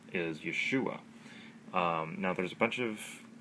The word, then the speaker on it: Yeshua: Pronounced Yeshua.